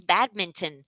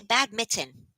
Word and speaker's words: badminton: how are you LSP it is badminton and a lot of people say bad Mitten including me so I I thought